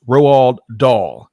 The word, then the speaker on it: Roald Dahl: thanks for helping pronounce me know how to pronounce rowald doll so doll of course the the um former